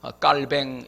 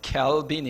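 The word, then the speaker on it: 칼뱅: 말로 종교개혁자 아 칼빈 요즘은 이제 프랑스 발음 그대로 해가지고 깔 뱅 이렇게 많이 이제 교과서에도 깔 뱅으로 나오는데 여론은 케어 빈 이고 그 동안은 계속 케어 빈 이라고 했기 때문에 그냥 3가 오늘은 깔 뱅으로 안하고 켈빈 으로 하겠습니다 이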